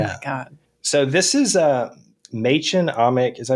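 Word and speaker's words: Mädchen Amick: So this is Machen Amick. Is that how you say her name? Machen Amick. You should know. Yeah, it's Machen Amick.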